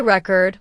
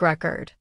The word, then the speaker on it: record: For example, let's take the word record. If you say record with stress on the first syllable, it's a noun, like a music record. But if you say record with stress on the second syllable, it becomes a verb. Like I record a video.